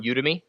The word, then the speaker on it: Udemy: buy it basically yeah so it is on udemy and that is spelled UD e my udemy calm and Brett